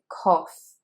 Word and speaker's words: cough: Number 30 is cough, cough, not cough or cough, it is cough, cough. O as in yacht, as in robot, as in shop. It's the O sound again, cough.